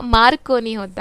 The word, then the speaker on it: मार्कोनी: यहाँ पे हरि बालकृष्णन को क्या अवार्ड दिया है, मैक्रोनी अवार्ड, मैक्रोनी होता मार्कोनी होता, ओके, मार्कोनी प्राइज़, यानी कि हम लोग प्रोनाउंसिएशन में थोड़ा बहुत रॉन्ग हो जाता है, तो कुछ भी ना कुछ समझो।